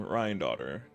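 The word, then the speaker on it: Rhinedottir: That's how you say her name, Ryan daughter.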